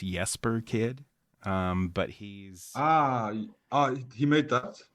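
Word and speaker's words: Jesper Kyd: is by um I I think it's pronounced yesper kid um but he's ah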